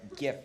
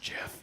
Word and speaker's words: GIF: be like simple uh GIF animations maybe something like that but it's pronounced Jiff no it's not it's GIF it's a g no choosy animators choose gif creamy gifs are generally